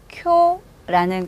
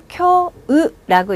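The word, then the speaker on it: 今日: 쿄라는 글자고요. 다음 글자는 우자죠. 한 번에 합쳐서 쿄으라고 읽지 않고 쿄를 뒤로 길게 끌고 갑니다.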